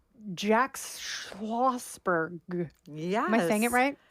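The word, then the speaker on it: Schlossberg: been dropped on his head and it's Jack schosberg yes am I saying it right I believe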